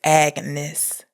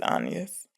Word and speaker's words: Agnes: And she says, I swear she says Agnes. There's no way she says Anus. There's not a single person in the entire movie that pronounces a hard G. Agnes.